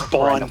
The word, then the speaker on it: Bawn: This is Bawn. Perfect. Bon, like good cat?